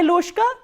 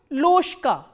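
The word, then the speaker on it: ложка: Loshka. Why loshka? Because again there is a voiced consonant coming before the voiceless consonant. So, what happens is this voiced consonant will be pronounced as its voiceless counterpart, which is sh. So, how will you pronounce this word?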